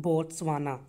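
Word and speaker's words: Botswana: okay क्या बोलते हैं फोर्थ वह ना कि बोत्सवाना ओके तो यह चीज आपको याद रखनी है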